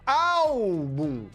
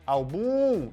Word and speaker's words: álbum: Álbum de fotografia, ó, álbum. Qual é a sílaba forte? É o bum? Eu não falo álbum, eu falo álbum. Então, a sílaba forte é paroxítona, é a penúltima.